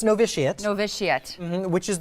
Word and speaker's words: Novitiate: of it and I didn't know how to pronounce it correctly it's novitiate know this yet which is the school that